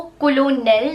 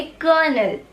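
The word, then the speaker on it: colonel: आप इसको कोलोनेल नहीं पढ़ेंगे, आप इसको पढ़ेंगे कर्नल।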